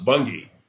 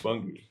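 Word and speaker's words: Bunge: And he goes, Bungie. Okay, all right, so get that out of the way. It's Bungie.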